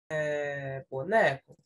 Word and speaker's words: boneco: faço aqui vai Oi qual foi a sílaba que você pronunciou de forma mais forte boneco né Neco perfeito então é a segunda né de frente para trás boneco então entra aqui ó nas paroxítonas boneco que as paroxítonas é